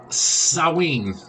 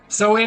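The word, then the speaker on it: Samhain: what are the origins of Halloween or uh saen which is how it's pronounced it's spelled s m ha a i n soan again uh was a Celtic Festival Gaelic Festival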